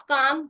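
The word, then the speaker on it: calm: Silent होता है। ठीक है? तो हाफ काम वक top Simon पाम कट इट in half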